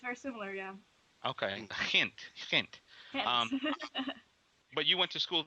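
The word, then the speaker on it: Gent: sound to many americans it's kind of almost like a like a yiddish pronunciation yeah it is actually it's very similar yeah okay hint but you went to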